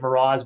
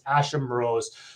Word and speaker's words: Asham Morose: A lot of people say it Moroz, but it's Asham Morose.